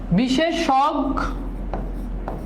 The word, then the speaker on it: বিশেষজ্ঞ: হ্যা একটু খেয়াল করো এই উচ্চারণটা ভালো করে খেয়াল করো বিশেষজ্ঞ ঠিক আছে এটাই হচ্ছে উচ্চারণ বিশেষ দুইটা স দুইটা